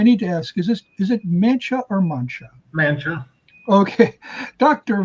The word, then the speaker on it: Mancha: People say La Mancha, so they're used to that, but you pronounce it Mancha.